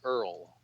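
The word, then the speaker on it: IRL: I have returned to earl now that you're like what is Earl well that's how you pronounce the acronym for in real life meaning I'm biking outside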